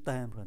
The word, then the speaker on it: timbre: Chúng ta rất cần phải chú ý tới cái chữ timbre này. Chữ M đứng trước B thì phát âm là N, timbre.